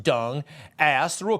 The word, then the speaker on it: Deng: Hunter, this is to confirm the DCM, Minister Deng, pronounced Dung, asked through a call that I received from Mr.